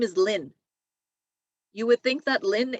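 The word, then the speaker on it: Linh: it's the same name it's pronounced the exact same way lin l-i-n-h or l-y-n-n right so these are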